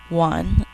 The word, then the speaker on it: one: word one in now in English we say one with a W sound but the word one